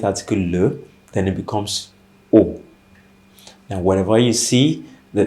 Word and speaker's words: au: Okay, because the rule says wherever you see a, the preposition a plus the definite article le, then it becomes o.